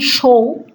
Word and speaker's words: শোও: Second person, tumi show, tomra show. Honestly, I couldn't find a good way to represent the pronunciation show with English vowels.